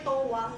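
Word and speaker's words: 永遠: Bukan eh, yen kan, tapi bacanya towa.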